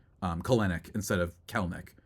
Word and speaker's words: Kelenic: It's pronounced Kelnick. Oh, did I say that? Did I say Kelenick?